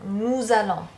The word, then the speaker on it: nous allons: So when talking about us, we, you and me, in front of a vowel, we want to hear a Z sound.